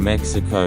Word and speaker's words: Mexico: The X in Mexico is pronounced as H.